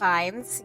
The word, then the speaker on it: Ralph Fiennes: Ralph Fiennes? Or is that pronounced Ray Fiennes? Ray Fiennes, yes.